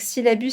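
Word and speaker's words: Scilabus: Donc Syllabus, ça s'écrit S-C-I-L-A-B-U-S.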